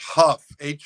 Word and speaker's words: Hough: It's pronounced Huff, Huff, like rough or tough.